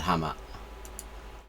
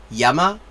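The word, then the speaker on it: 山: she made an edit, is actually yama, or sometimes it's san or zan.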